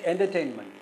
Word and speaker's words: entertainment: out entertainment entertainment and Here the third syllable is stressful.